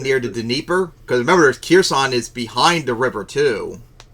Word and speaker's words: Kherson: Kherson?